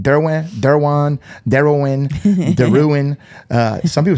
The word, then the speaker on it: Derouen: Which my last name is actually pronounced Derwan. Okay. Or in New Iberia, it's Derwan. And then in France is Deon.